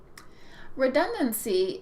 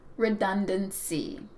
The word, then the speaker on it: redundancy: Redundancy is the noun form, meaning the exact same thing. And it is pronounced with 3 syllables, redundant. Repeat, redundant. The noun form has 4 syllables, redundancy. Repeat, redundancy.